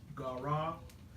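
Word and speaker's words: קרא: And so he makes a vow, which is the Hebrew word is Gara. I spell it Gara.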